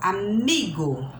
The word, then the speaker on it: amigo: Por exemplo, vamos dar amigo. Ele não é acentuado, mas a sílaba forte é a penúltima, né?